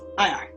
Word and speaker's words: Chassia: it spelled in a way you could pronounce it as Cheshire? No, it's Chasir.